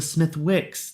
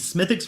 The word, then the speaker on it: Smithwick's: is smithx Red Ale I've just been informed that the Smith Wix the W is silent so apologies smithx red L uh 4.5%